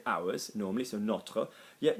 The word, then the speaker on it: nôtre: know, like Notre Dame, you are going to say the o, like float. Yeah, so le nôtre, la nôtre, les nôtres, les nôtres.